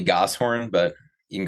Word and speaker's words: Goshorn: Championship from last year his name is Mr goor I guess I've never said your last name before is that correct how I pronounce that uh usually gos horn but you can call